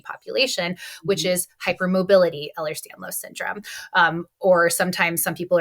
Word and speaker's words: Ehlers-Danlos: So Ehlers-Danlos, pronounce it again. Yep. Ehlers-Danlos.